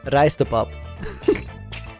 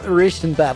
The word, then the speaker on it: rijstepap: Dutch word of the day, rijstepap. No, it's not Ristenpap.